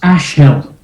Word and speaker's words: Ashill: It's pronounced Ashill.